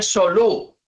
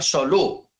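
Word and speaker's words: סלו: En hebreo se dice solú. Exaltar en hebreo se pronuncia solú.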